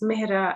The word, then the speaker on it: Mehra: So we have the A, which is like the inherent and then when he says Mehra, it's the longer A.